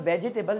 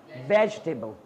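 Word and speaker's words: vegetable: That's not called वेजिटेबल, that's called वेजिटेबल। ठीक है, क्योंकि यहाँ पर हम इस ई को प्रोनाउंस नहीं करते।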